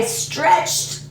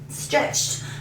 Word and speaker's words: stretched: okay so another eat another tea Edie but pronunciation tea okay so I stretched stretched I stretched before I went to the gym